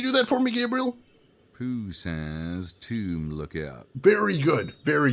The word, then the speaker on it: Poussin: I'm sorry, how do you pronounce that name again? Pooh says tomb lookout.